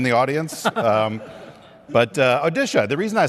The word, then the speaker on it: Odisha: is the state of odisha not one that you normally hear about but what's the pronunciation now odisha odisha right we used to call it orisa when we were young